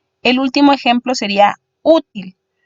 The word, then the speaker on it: útil: El último ejemplo sería útil. Útil se divide en 2 sílabas también, u y til, siendo u su sílaba más fuerte y una vocal además, por ende lo tildamos.